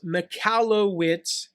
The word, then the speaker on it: Michalowicz: on him mike now his last name is pronounced mikalo witz and spellcheck always screws that up uh he